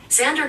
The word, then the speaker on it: Xander: According to the bump, meaning defender of man, Xander comes from Alexander, but it's Sounds shorter and safe with to its me. X pronounced as a Z.